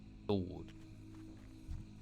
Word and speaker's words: sword: Sword. It's still sword, isn't it? Sword. Sword. It was all the W is silent.